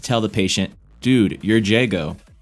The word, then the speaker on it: Jago: the patient dude you're Jago which funnily enough he pronounces as jogo so we can tell